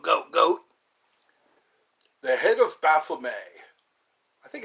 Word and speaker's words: Baphomet: The head of Baphomet. I think it's Baphomet. Yeah, Baphomet or Baphomet. Like you say, beret. Beret is spelled with an A. Beret.